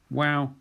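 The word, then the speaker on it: Waw: Wow is a W, w, but very often pronounced like a V in colloquial contexts.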